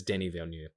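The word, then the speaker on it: Denis Villeneuve: real problem with that i actually do know how to say it it's denny valeneu i'm just being silly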